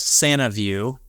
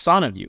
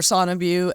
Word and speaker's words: Sanaview: all that but but it's actually pronounced son of you correct and you were